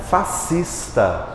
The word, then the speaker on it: fascista: verdade tem S fascista como é que eu pronuncio isso aqui fascista como sendo um só esse aqui aqui é